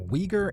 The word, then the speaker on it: Uighur: The 90kms long border links Afghanistan with Xinjiang, a Chinese province home to the Uighur (pronounced WEE-guhrs) ethnic group.